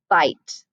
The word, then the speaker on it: bite: that again i bit so here's the thing that's a short i sound bit it when we have this silent e at the end that makes it a long i sound so that's why it's bite so i bite i